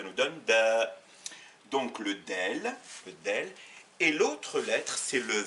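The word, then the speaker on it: دال: La lettre D, qui s'appelle en arabe del et qui se prononce de, ça a la forme d'un nez.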